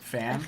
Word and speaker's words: Fan: F-A-N. Like fan. F-A. It's Oh, Ooh, fan.